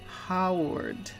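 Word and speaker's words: Haward: child one word and marado last name is Howard but it's spelled h a w a r d it's pronounced Howard um it's h a w a r d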